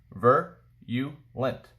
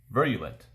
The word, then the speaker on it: virulent: this is message virulent the way you pronounce it ver you lent virulent marked by a rapid